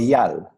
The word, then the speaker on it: Eyal: Did I pronounce that properly? Almost. It's Almost. Eyal.